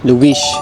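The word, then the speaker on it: Luís: Luish ang tawag nila. Pag may S sa huli, SH yung pagkaka-pronounce nila eh.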